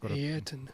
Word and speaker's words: Ayrton: Or Ayrton Senna, sorry. Ayrton. You got to pronounce his name right.